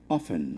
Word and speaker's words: often: So it's is better to go for the often. The T being silent is better to go that route as well.